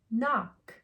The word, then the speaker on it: knock: Do we say anything for the K? Nope. Ready? N, ah, k, n, ah. Knock, like hello, right? Knock, okay, knock. The K is quiet, so we skip it and go right to the N.